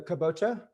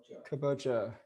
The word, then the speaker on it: kabocha: It's the kabocha. Kabocha.